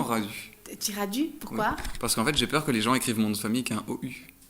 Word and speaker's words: Radu: non, étymologiquement parlant, je pense que ça se dit Radou, mais moi j'aime autant Radu.